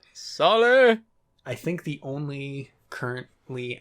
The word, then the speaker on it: Saleh: second year head coach robert saleh i think is how you pronounce it sully i think the only